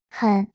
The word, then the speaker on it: 很: 很高兴，很是第三声，轻读，类似英语 han 的发音。